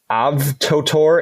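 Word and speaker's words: AVTOTOR: looking at this one right now trying to pronounce it avtor AV t o t o r they produce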